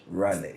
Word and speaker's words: Raleigh: Raleigh. Spell it again for me, please.